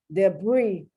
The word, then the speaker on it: debris: how you spell it debris french that's why you don't pronounce the s arkansas and it's not